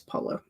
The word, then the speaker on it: Paulo: It might be Paulo. I feel like that's not right. Paulo. Yeah, it's Paulo.